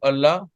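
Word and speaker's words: الله: this this word Allah Allah is the god of Muslims so there is something in L of Allah uh in few places we pronounce the L of Allah very thick like Allah Allah in few places we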